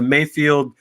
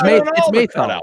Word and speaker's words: Mayfeld: We've been it's Mayfeld. It's Mayfeld. Mayfeld. I know. I said it right last week and you didn't, but that's okay. Mayfield.